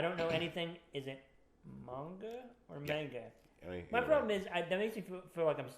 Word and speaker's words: manga: Yeah, it's manga. I believe the right pronunciation is supposed to be manga.